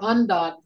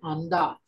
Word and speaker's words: vntvt: VNTVT, Jordan, that's undot.